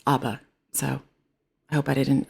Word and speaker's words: ABBA: I know some people call it ABBA, but I grew up learning how to pronounce it as ABBA, so I hope I didn't offend anybody.